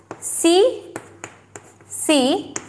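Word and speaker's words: tsetse: तो आप नोट कर लीजिए, ये भी बहुत सी सी फ्लाई, टी साइलेंट है, सी सी फ्लाई, नोट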